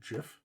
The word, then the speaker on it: GIF: that abundantly clear earlier it's pronounced Giff it's not isn't a Jeff I don't [ __